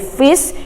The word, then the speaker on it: fis: Ya, jadi fis itu artinya kalau F ditambahi belakangnya is, membacanya jadi fis, itu artinya ya intervalnya naik setengah, ya Nak ya.